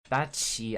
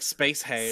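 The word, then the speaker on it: SpaceHey: heard of that one spaty Spacey Spacey like space hay space spaty spaty I'm trying space hay okay I am saying it right now space similar to my space i h i oh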